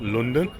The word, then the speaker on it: London: Notice I said London and not London, because it's spelled London. But anyway, if you're one